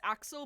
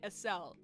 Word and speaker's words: Axel: pisses everyone and off his name is technically pronounced Axel but I like saying a cell because I like that I think that sounds better this is everyone off but